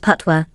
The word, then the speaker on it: patois: Language, Jamaican patois, pronounced patois, is the common dialect among Jamaican citizens.